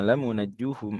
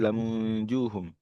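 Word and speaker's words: لَمُنَجُّوهُمْ: Imam Hamzah dan Kisai bacanya bukan lamunajjuhum tapi lamunjuhum. Ya. Jadi bukan najja yunajji seperti jumhur wasyad dadahul bakun. Tapi anja yunji.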